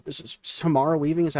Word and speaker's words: Samara Weaving: Is it Samara Weaving?